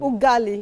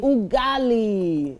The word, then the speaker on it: ugali: For those that uh missed it, please pronounce the name of the dish again for me. Ugali. Ugali.